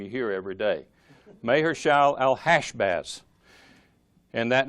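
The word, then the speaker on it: Maher-shalal-hash-baz: concerning may heart that the thing the correct pronunciation is mayor shall L hash Baz unless not something's not a name you hear every day mayor shall L hash baths and that name by the way means quick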